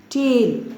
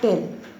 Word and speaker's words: tail: Tail, not tell, Tale, you will pronounce it as tail.